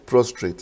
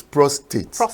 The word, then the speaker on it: prostate: first of all from the word prostrate is actually not prostrate is PR the r is silent the second AR so it's prostate but it's a general